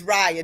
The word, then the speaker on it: Raya: Um, and now when I needed to do, make Raya, and by the way, the octopus name is Raya. Just give you the correct pronunciation. So it's Raya.